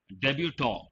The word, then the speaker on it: debutant: quality or something excellent debutant t is silent part of speech now